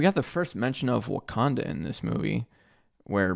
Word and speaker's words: Wakanda: the first mention of wakanda in this movie where Bruce botches uh the pronunciation saying wakanada and and it's it's